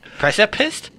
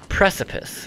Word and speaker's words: precipice: the precipice of death pressure pissed precipice what's the precipice no T at the end just press a piss what is that it's